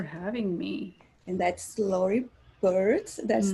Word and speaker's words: Beard: And that's Lori Bird. That's not pronounced because I usually beard like facial hair.